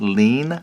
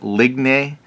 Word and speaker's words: ligne: And I think someone said this is pronounced lean. I was calling it like ligne. I don't know, but I think it's lean for line.